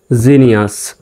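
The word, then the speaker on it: genius: তারপরে দেখেন জি এর পরে ই আছে, সুতরাং এখানেও জির উচ্চারণ হবে জ্বর মতো। তাহলে জি ই জি, এন আই ইউ এস নিয়াস, নি আস, জিনিয়াস। তাহলে পূর্ণাঙ্গ শব্দটির উচ্চারণ হচ্ছে জিনিয়াস।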